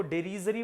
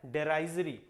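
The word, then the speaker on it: derisory: बहुत लोग इसको डेरीजरी पढ़ते हैं, डेरीजरी नहीं होता है, डेराइजरी।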